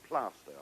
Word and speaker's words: Plaistow: Yes, and for those who wouldn't know, it is spelled Plaistow, is that right? Yes, but it's called Plaistow, and I know that.